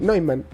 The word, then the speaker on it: Neumann: Neumann. Se dice se escribe Neumann, se Se pronuncia pronuncia Neumann, Neumann. pero da lo mismo y me dicen Newman y yo digo sí, pues como mi Ah.